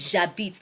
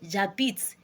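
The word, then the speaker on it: j'habite: out so it is jabit now for for your jabit your Z will not have e again why is it so because the H there is silent is a silent h and then you don't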